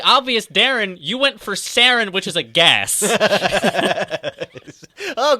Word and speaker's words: Saren: How about some points for me knowing what Saren is and not pronouncing it as Sauron?